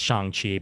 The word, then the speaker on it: Shang-Chi: a sign of approval we can pronounce it any damn well we please and we're probably going to throughout the course of this movie uh review as we forget that it's chang chi but um this is